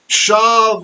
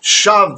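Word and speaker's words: שָׁוְא: Shav yedaberu ish et ra'ehu, sefat chalakot. So shav, we should know this word, shav, or in this case it's actually shave, there's a slight pronunciation.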